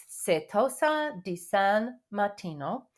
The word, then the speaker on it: Certosa di San Martino: Certosa di San Martino.